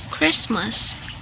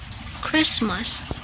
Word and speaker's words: Christmas: wanted wanted rule number two use silent T when T is in between consonant sounds so the pattern is